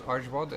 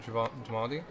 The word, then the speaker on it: Ajwad: and then Sargon in the direction of the university, which I've been mispronouncing as well because it was Ajwad and not Jwadi.